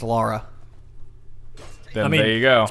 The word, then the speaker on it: Lara: had this conversation of if it's Lara or Laura cross um did you play the game it's Laura there you go pronounced